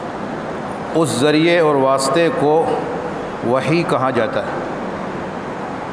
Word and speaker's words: وحی: وحی کہا جاتا ہے۔ وحی عربی زبان کا لفظ ہے، عربی زبان میں اس کا تلفظ اور اچار وحیٌ ہے۔ اردو میں عربی کے اعتبار سے وحیٌ بھی بولا جاتا ہے، اور تخفیف کرتے ہوئے اس کو وحی اس طرح بھی کہہ دیا جاتا ہے۔ دونوں طرح بولنا درست